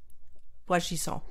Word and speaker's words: Boisgisson: Boisgisson. Is that how you say her name? Boisgisson.